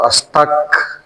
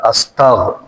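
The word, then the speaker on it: أستغفر: ক্ষমা তো সেজন্য আমাদেরকে এই যে কাফের জায়গায় গ বাংলা বাংলাতে আমাদের গ টা বলতে হবে আস্তাগ গ এটার মাখরাজ হচ্ছে এখানে এই যে কণ্ঠনালীর একেবারে এইখানে গ আস্তাগ আস্তাগ এতটুকু না পারলে অন্তত ক যা যাতে না হয় বাংলা ক না হয়ে বাংলা গ তে উচ্চারণ করবেন আস্তাগফিরুল্লাহ এই যে আস্তাগফিরুল্লাহ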